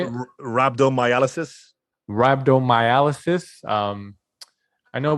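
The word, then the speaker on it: rhabdomyolysis: because he suffered do you know how to pronounce it how do you say it rabdo miysis rabdo miysis um I know we tweeted about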